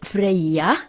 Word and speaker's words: Freya: planet Freya Venice should clap note Freya is pronounced free yeah not afraid yeah Sanskrit Busch preaching on a